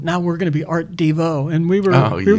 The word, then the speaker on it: Devo: be like Art Nouveau art Devo well we were art DeVoe that's how we used to pronounce it and then I wrote this song called chocolate homo where it ended up accenting the second syllable and that changed it because then everybody said Devo instead of did you